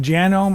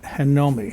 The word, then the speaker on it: Janome: the way it's pronounced genome I looked it up online a lot of people say Janome supposedly in English it's pronounced Janome in Japan where the machine is made they pronounce it hanomi so I guess Janome